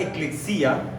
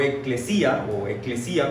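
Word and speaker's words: ἐκκλησία: Esa palabra eklexia o eclesia, como lo quieran pronunciar, podría traducirse así: la reunión de los que han sido llamados por el Señor para estar en asamblea.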